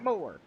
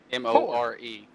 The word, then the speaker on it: More: oh yeah yeah yeah so it's more more like mor e like I want more absolutely ah well how's